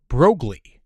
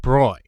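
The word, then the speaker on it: Broglie: 29, but whose name I have been incorrectly pronouncing as Brogley instead of the correct Bruy.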